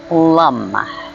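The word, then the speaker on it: LAM: we'll start by chanting l-a-n which is pronounced as lum and that is the Mantra that is associated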